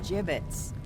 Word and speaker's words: gibbets: out of here hey look ay had some gibbets left over jbits what it's pronounced jbits are you sure yeah well no